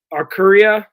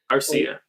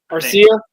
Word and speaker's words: Arcia: I mean, they just DFA uh uh Aruria or Arc Syria. I don't want to say his name. The guy from Atlanta. Arcia. Arcia.